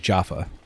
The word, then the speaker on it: Jaffa: pronounced Jaffa Cakes because it looks like jeffa but it's not jeffa it's like Jaffa got all your work